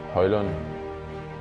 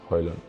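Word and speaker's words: Højlund: Yes, my name is Rasmus Hojlund. I hope you got it right. Great. No. It's you can pronounce however you want.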